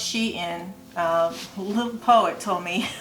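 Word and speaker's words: SHEIN: on um she in shine they call it s-h-e-i-n it's pronounced she in a little poet told me i was saying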